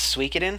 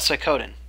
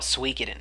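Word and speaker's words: Suikoden: I grew up calling it that but it's pronounced suin have you ever played that yeah I call it sooden but it's actually like you're supposed to call it suen but I call it sooden have you ever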